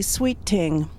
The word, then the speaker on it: Sweet Thing: Sweetie's name is really Sweet Ting. In the West Indies, they don't pronounce an H, so it's Sweet Ting.